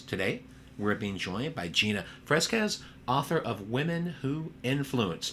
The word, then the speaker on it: Fresquez: Today, we're being joined by Gina Fresquez, author of Women Who Influence.